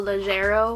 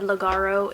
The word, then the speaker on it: Leggero: My favorite, absolute favorite pods are the Bianco Leggero, which is how you pronounce it. I think I said Legaro in the taste test. I don't know. I don't drink coffee like I said. I think it's pronounced Leggero. I've heard people saying it like that.